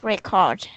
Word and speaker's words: record: The OR makes like an sound. Record. Record. Good. Record. Make that like record is technically not incorrect, just not in this context. Yeah. So To record something, that would be correct. But record is how you should pronounce it, like as a